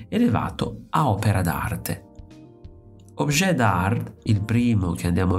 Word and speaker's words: dard: nel titolo che include una parola dard somigliante all'inglese hard, ma che nella pronuncia francese richiama dart, quindi anche oggetto d'arte.